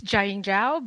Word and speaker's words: Jiaying Zhao: just make say your name the way you pronounce it just so I hear it from you sure yeah I'm it's Jing Jiao but um you said it perfectly but I